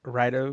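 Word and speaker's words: Raido: When fellow student, how do you say his name? Rado? Right? Righto. Right? Rido? Okay. Righto. When Righto.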